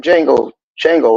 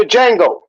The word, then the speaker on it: Django: And Shango was the Django. But Django. remember the movie? Hold on. Mhm. He said Shango, the Django. What he say? The D is silent.